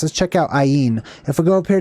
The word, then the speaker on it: ayin: can see mem uh looks like an I exactly how it's pronounced basically I on basically that last part is different but I it means an I